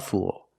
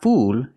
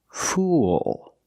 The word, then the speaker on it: fool: And pronunciation, it's not fool, it's fool. Use the dark L at the end. Link the sounds oo with the dark L. It makes an extra sound. Listen. Fool. Fool.